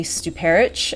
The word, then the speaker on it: Stuparich: Mallalerie Stuperic, I think is the way that she pronounced her last name.